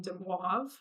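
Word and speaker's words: de Moivre: wavers Dew theorem uh this is a French name and um because of the order of um the letters in there it's a little bit hard for Americans to pronounce um so what I remember from college is my professor saying de wav but when I looked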